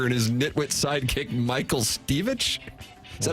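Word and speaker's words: Stivic: it's Archie Bunker and his nitwit sidekick, Michael Stevich. Is that how you pronounce it? Michael Stevick, yeah.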